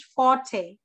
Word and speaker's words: forte: word for forte but no not fought it is forte what is how is